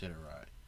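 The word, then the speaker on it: Sderot: And what really struck me about, because I watched a couple of videos, I believe it's pronounced Siderat. I heard people pronounce it differently, but I'm saying Siderat.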